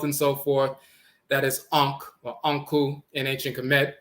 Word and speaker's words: ankh: You see the term ankh. The wavy line here is the wavy. It's a water line, but it's also electromagnetic wave and so forth. That's the n sound, that wave line. And then the cf right here, the circular dark circle, is the k sound, but it can also